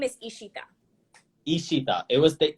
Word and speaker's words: Ishita: my first name is ishita ishita it was the e wasn't it the yeah the bengali pronunciation is like you draw out your letters so it's ishita do people call you